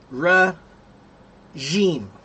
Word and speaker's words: regime: Omar, the G is pronounced with a G. Regime.